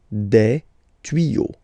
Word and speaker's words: tuyaux: Okay, same rule here. You won't add S at the end, but instead of S, you will put X. Okay, des tuyaux. Same rule, you don't pronounce it. Des tuyaux. Okay, un tuyau, des tuyaux. So the only difference will be with the article because the word will be pronounced the same way.